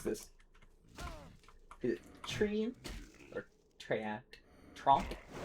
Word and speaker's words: Treant: How do you pronounce this? Is it Tree? Or Treant? Tromp? Treant.